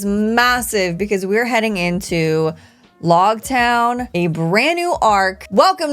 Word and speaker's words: Loguetown: One of my patrons said, the pronunciation of Loguetown is like epilogue or prologue. So I'm gonna say log because in the last